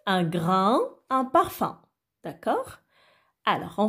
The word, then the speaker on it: grain: A-I-N. Ah bon, c'est déjà A-I se prononce A. Alors avec N, A-I-N, un.